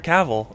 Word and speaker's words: Cavill: my name self himself says like travel. Oh, Henry Cavl.